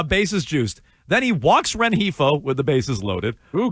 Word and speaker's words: Rengifo: Then he walks Rengifo with the bases loaded. Ooh, good pronunciation on Rengifo, Joe.